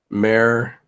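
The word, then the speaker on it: Mär: That's how you spell it. Mare.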